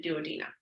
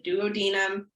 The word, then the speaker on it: duodenum: There's different pronunciations. I think in the States it's duodenum, but overseas they say duodenum. So I'm just in the bad habit of saying it probably the wrong way.